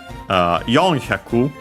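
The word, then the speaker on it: 四百: But yeah, Sambyaku, so on the first mora. Yonhyaku, yeah, that's the most common one instead of the shi, of course, also an exception.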